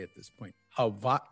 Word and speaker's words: Hawaii: I've been here long enough that I pronounce it correctly at this point. Hawaii. Say it again. Hawaii.